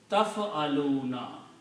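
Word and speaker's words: تفعلون: So this will be pronounced taf'aluna.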